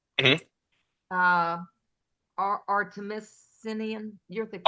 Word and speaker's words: artemisinin: uh, artemisinin. You're the chemist. How do you say? Artemisinin, very good, Sherry, very good.